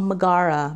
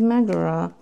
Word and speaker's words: Megara: and a foil, Megara, which a lot of people call Megara, but her name is Megara. That is how she pronounces it, and that the movie pronounces it.